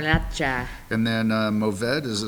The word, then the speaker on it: Garnacha: You got to roll your R's in Spain. Garnacha.